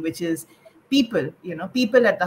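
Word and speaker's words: Peepul: name for the organization that i'm associated with people which is spelled p-e-e-p-u-l we are an education non-profit so the idea was you know think back to every child living their potential under the people tree the way that things used to be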